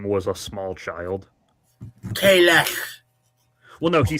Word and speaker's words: Kahless: That's one of many Klingon words whose pronunciation varies depending on which they need in this episode. I like to chalk it up to different cultural pronunciation over time.